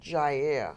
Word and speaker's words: Jair: How do you pronounce his first? Jair.